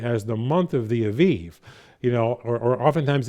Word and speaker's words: Aviv: the month of the Aviv, or oftentimes in our English translations, it'll have A-B-I-B, but phonetically in Hebrew, it's more A-V-I-V is how it would be correctly pronounced.